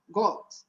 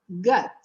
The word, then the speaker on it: God: Dessa pronúncia do God, a gente trabalhar bem essa questão, porque a gente vê o O, e no português a gente fala O, go, God, God. Aí a gente pensa que a pronúncia é God, e não é God, é gut, gut. God, God, é uma espécie de A puxado no fundo da garganta. God, why don't you do something? God. É a mesma pronúncia do love.